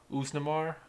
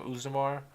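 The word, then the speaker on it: Oezdemir: But first fight, Daniel Cormier versus Usnamar. That's how you say his name, Usnamar.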